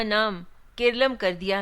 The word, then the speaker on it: केरलम: दरअसल केरल नाम अंग्रेजी उच्चारण के तहत है। जबकि मलयालम भाषा में इसे केरलम बुलाया जाता है।